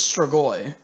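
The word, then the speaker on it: Strigoi: he knows his craft he always pronounces this episode wrong and i it's kind of he's like star star i'm like dude it's stragoi yes if you're watching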